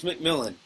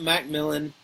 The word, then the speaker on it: McMillan: It's McMillan. It's not Macmillan. It's not McMillion. It's not McMillan spelled with an IEN or IN. It's just McMillan.